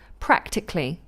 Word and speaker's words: practically: Okay, so here's how you pronounce them. Technically, so it would be technically, practically, automatically, mechanically, psychologically, and historically. It becomes what's called a lateral plosive.